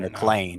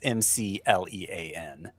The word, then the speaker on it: McLean: It's Mc Lan. It sounds like McDonald's introducing a new healthy menu item.